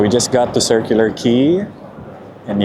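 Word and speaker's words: Quay: So, we just got to Circular Key and yes, that's pronounced key. Q U A Y.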